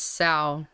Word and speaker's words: sow: Also, I don't know how you pronounced it, but it's pronounced sow, not so. Is it pronounced sow? It's sow. It's sow is like as in sow, like sow or sowing seeds, but that's I don't know sow.